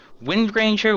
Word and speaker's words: Windranger: for wind ranger is windranger with a hard G windranger I'm just going